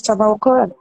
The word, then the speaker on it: Tamawqo3: Donc, est-ce que tu peux peut-être commencer par présenter voilà le collectif Tamaoko? Je le Oui, prononce bien, mais Dayak.